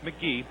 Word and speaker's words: McGehee: It's Casey McGee, McGehee, but it's pronounced McGee.